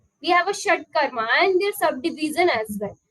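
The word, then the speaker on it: shatkarma: we will look here how it could be pronounced shut Karma okay again this is a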